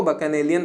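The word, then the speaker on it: bacchanalian: ठीक है, अब देखिए प्रोनाउंसिएशन में जब होता है तो वो बकनेलियन पढ़ा जाता है, लेकिन अगर कोई फर्स्ट टाइम इसको देखे तो इसको देख के क्या आता है? बच्चन याद आता है, BACCHAN, तो बच्चन।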